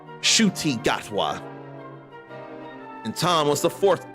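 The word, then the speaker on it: Ncuti Gatwa: That name is pronounced shy. I would never get that unless it was actually spoken like it has been. Shuty Gatwa.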